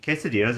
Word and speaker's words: quesadilla: Especially quesadillas are so good. It's pronounced quesadilla.